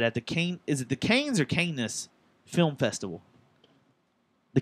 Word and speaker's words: Cannes: All right, so apparently there's a rumor that at the is it the Cannes or Cannes Film Festival? The Cannes. The Kannes Film Festival. Cannes? Cannes? Cannes. It's Cannes Film Festival.